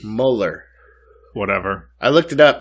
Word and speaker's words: Mueller: Mueller, kind of like it looks like Bueller. Yeah, Mueller. but it looks like you'd say it as Mueller.